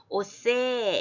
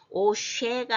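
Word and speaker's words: עֹשֵׂה: 그러니까 오, 그 다음에 자, 이렇게 이거 갈고리창 같은 게 점이 오른쪽에 있으면 쉬 발음이고 여기처럼 왼쪽에 있으면 스 발음이죠. 그런데 뒤에 이제 그 다이아몬드는 거기 액센트를 주라는 표시고 그래서 오세 이렇게 되겠어요.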